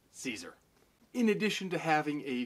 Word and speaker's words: Cesare: is adam caesar and before somebody in the comments tries to correct me i am not mispronouncing cesare he does pronounce it caesar in addition to having